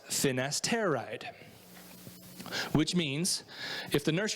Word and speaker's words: finasteride: for benign prostate hyperplasia the generic chemical is pronounced finasteride which means if the nurse you're talking to